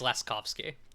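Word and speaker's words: Laskowski: end with ski and it's a W, and yeah, people pronounce it like w, and it's v because it's the same in my name because which is spelled with a W in Polish.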